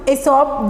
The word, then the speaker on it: Aesop: तो एफिसॉप, pronounced Aesop, was a famous story writer.